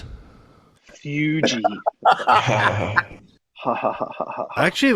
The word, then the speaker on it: Fuji: cools the smoke down slightly, so It's not pronounced like a normal Fugees. pipe. Fuji.